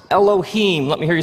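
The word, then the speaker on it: אֱלֹהִים: it would look something like this and it's pronounced Elohim let me hear you say Elohim in the beginning Elohim created the heavens and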